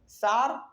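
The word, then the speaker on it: Tsar: टी एस ए आर इसमें T silent होता है अब इसको क्या पढ़ेंगे सार निकोलस सेकंड यहां पे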